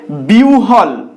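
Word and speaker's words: বিহ্বল: যুক্ত অবস্থায় থাকে সেক্ষেত্রে এর উচ্চারণ হয় ইংরেজি ডব্লিউ এর মতন বা ওহ এর মতন দেখো এখানে বেশ কিছু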